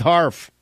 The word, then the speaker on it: Harf: The fall of Mrs. Barf rhymes with Harf.